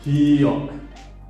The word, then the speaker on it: ㄱ: If you romanize here, it is G or K. Actually, it is not G or K, it is in between because it is not Ga, it is not Ka, it is Ka.